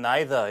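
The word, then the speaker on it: neither: 당연히 안 되고 C needer Thank you 됐죠 이게 이제 영국식이나 호주로만 나이다 이렇게 발음되기도 하는데요 둘 다 싫습니다 감사합니다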